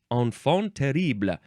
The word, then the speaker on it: enfant terrible: The next word is enfant terrible. Yeah, I think that's how you say it. Enfant terrible. Now, this is two words. The first word, it's enfant. It looks like infant with an E.